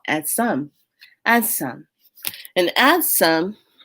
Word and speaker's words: adsum: and this call at some adds some and add some it's spelled a-d-s-u-m and add some it's from the